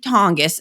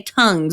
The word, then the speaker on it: Tonges: of mention is Jake Tonges. And yes, that is a real name. I had to look up how to say it so I wouldn't say tongues or something.